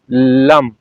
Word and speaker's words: लं: है व बैलेंस होगा लम ल और म यह वर्ड है इसको उच्चारण करना है और उच्चार का जो म की ध्वनि है उसको लंबा लेकर जाना है कैसे करेंगे लम